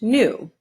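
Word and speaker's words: gnu: new or wildebeest this odd-looking animal is a new it's pronounced new or it's called a wildebeest will duh beast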